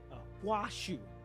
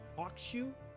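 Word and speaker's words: Huaxu: I always pronounce Huashu's name as Hakushu, emphasizing the X. Okay. Huashu. Huashu. That's what it was. Huashu. Okay. Huashu. So Hakushu is basically pronounced Huashu. So H-U-A.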